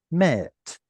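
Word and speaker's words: מֵת: and your tav and you say mawet with an original W sound, it creates a triphthong, a complex vowel that got simplified. So rather than pronouncing it as mawet, it simplifies to met.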